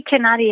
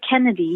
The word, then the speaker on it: Kenadi: correctly kenadi kennani um it looks like it should be kanadi it's actually kennedy yeah kennedy de la